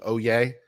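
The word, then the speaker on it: Oyez: have the audio but oh why easy Oh yay it's pronounced oh it's pronounced oh yeah in case you want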